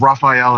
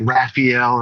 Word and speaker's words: Rafael: A lot of people will say Rafael, or they just kind of abuse instead of Rafael, it's like Raphael, or I live in Oklahoma, so sometimes they don't say it right.